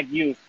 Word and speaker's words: Gueuze: aprender cómo a distinguir, no se dice ni Gose, ni la Gueuze dice Gouza, sino la Gueuze es Gueuze y la Gose es Gouza.